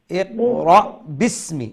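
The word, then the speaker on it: بِسْمِ: একটা আলিফ দেখছেন ওইটা কিন্তু উচ্চারণের ক্ষেত্রে ওইটা উচ্চারণ হবে না বাকে সিনের সাথে সরাসরি লাগিয়ে পড়বেন বিসমি বিসমি এবং এন্ডের দিকে আপনি তো স্টপ হবেন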